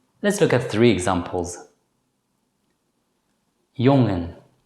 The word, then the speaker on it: jongen: When the letter combination NG is followed immediately by a vowel, it should normally still be pronounced as n. In such cases, the letter G should not be pronounced as G.